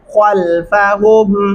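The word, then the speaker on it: خلفهم: درست تلفظ کیا ہے؟ خلفہم.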